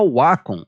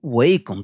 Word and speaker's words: Wacom: sendo a mais famosa a Wacom ou Wacom, dependendo da pronúncia que você quiser utilizar.